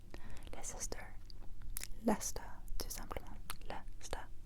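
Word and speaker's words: Leicester: angles cette grande ville et la L pas les sister les sister la star tout simplement la star la star la star la star las et puis notre deuxième ville encore en Angleterre ici je l'ajoute ici.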